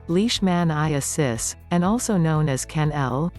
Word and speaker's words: leishmaniasis: blood transfusions what is leash maniasis in dogs pronounced leash man i assist and also known as kennel canine leishmaniasis as